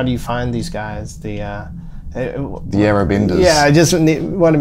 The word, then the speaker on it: Yarra Benders: The Yarrabenders. Yeah, I just want to make sure I pronounced it right. Yeah, Yarrabenders.